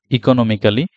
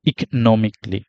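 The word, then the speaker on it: economically: আমাদের এখানে আছে ইকোনমিক্যালি ইকোনমিক্যালি এটা আসলে ইকোনমিক্যালি না এটা হচ্ছে ইকোনমিকলি ইকোনমিকলি ইকোনমিকলি আর এখানে আছে আমরা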